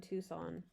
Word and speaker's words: Tucson: I used to live in Tucson.